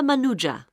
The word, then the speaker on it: Manuja: yes of course sorry my name is manuja can you spell that please m a n u j a